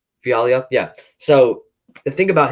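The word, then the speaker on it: Fialho: So Fiaglio is how you pronounce it, if I'm not wrong. Fiaglio, yeah.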